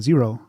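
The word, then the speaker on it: Xero: uh christopher christopher priest it's a zero okay yes ah that's that's such an easy name how did that know well it's spelled weirdly so it's x er and with a zero slash so okay awesome cool yeah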